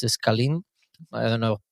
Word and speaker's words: scalene: as well it's a scalene I don't know how to pronounce it okay sorry it's like s-c-a-l-e-n-e yeah like the triangle like the the big side of the triangle scalene or something like that